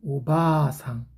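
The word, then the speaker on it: おばあさん: 이거는 발음을 오바3 얘는 오바상 이렇게 읽어야 돼요 그러니까 바에다가 아가 있기 때문에 바하가 아니라 발을 길게 뺀다는 거죠 이거는 오래 사셨으니까 할머니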